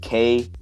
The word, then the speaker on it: Coatue: It's Coatue. It's kind of hard to pronounce, but it's a like venture capitalist funding